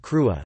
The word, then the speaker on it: crua: Another example would be the word crua, meaning hard. This pronounced, cru, in Munster, in line with the pre-Cadhain spelling, crui.